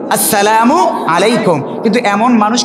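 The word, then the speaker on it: السلام عليكم: পড়েন আসসালামু আলাইকুম, সঠিক উচ্চারণ কি? আসসালামু আলাইকুম।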